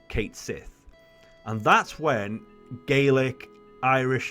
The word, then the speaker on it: Cait Sith: tweeted out saying that this character is actually pronounced Kate Sith and that's when gelic Irish and Scottish Twitter